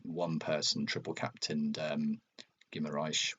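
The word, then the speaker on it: Guimarães: person triple captained um Gimarish which I think is the correct pronunciation gimarish. Wow. Um because everyone's just been saying gimas or whatever haven't they and I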